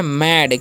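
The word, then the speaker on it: mad: में ए रहता है तो ए का जो उच्चारण है क्या हो जाता है अ हो जाता है ठीक है तो इसे हम लोग क्या पढ़ते हैं इसे हम लोग पढ़ते हैं मैड क्या पढ़ते हैं जी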